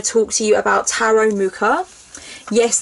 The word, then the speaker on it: Mucha: So first of all, I'm going to talk to you about tarot mucha. Yes, the word is mucha. It's not matcha or musha or musha. It is indeed mucha. The artist's surname is mucha.